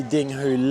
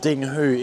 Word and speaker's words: Dinghu: And top is homophonous with the Cantonese word ding, and lake in Chinese is pronounced as hu. So Top Lake is called Dinghu in Chinese.